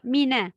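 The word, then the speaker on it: مِنَ: Donc, parfois, on a tendance à emphatique le noun de mina. On dit mina, mina. Non, c'est mina.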